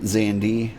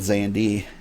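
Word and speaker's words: Xande: moment Emperor xandi awakened while you pronounce it xandi I think the most people pronounce it zandi I'm going with zandi in his lust for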